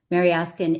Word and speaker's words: Mariaskin: Mary Askin which by the way everybody here can call me Mary Ascin is uh four syllables Russian and not easy.